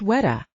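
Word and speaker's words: güera: goo Ori mean anyway it's pronounced WETA soel replied the kids in my neighborhood called me that it's what you call a light-skinned Mexican only they meant white girl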